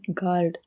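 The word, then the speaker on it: guard: you letter silent ಆಗಿರುವಂತ ಪದಗಳು ಜಿ ಯುಎಆರ್ ಡಿ ಗಾರ್ಡ್ ಅಂದ್ರೆ ಕಾವಲುಗಾರ ಜಿ ಯುಇಎಸ್ಎಸ್ ಗೆಸ್ ಅಂದ್ರೆ ಊಹಿಸು ಜಿ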